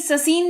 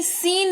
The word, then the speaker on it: scene: फिर है सीन, SCENE, ससीन नहीं सीन इसको पढ़ते हैं और इसका मतलब होता है दृश्य।